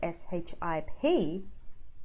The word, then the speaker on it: ship: vowel systems okay so you just want to relearn how to say the vowel so there you get them neutral because they make a huge difference I you say SH IP and how you say SH EEP ship sheep does change the content